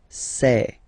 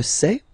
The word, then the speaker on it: sais: Okay, final S not pronounced, and then you get this A-I, E. Okay, je sais, sais.